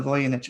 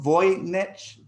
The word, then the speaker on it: Voynich: He's describing to you what nature is, as shown in the Voynich manuscripts. Listen to what he says. Oh, hang on one sec. Just spell that manuscript's name out again. Oh, Voynich, Voynich.